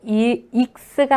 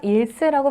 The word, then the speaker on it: 일쓰: 그래서 일수수학이라는 명칭이 있고 따라서 한글로 하실 때도 익스가 아니라 일스라고 발음을 해주시기를 부탁드립니다.